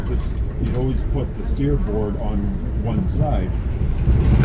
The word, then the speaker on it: starboard: And just the way old British people say it like steerboard. Star the steerboard. The starboard.